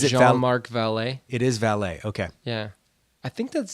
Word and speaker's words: Vallée: It is Vallée.